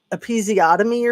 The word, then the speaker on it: episiotomy: Is it called like episiotomy or something like that?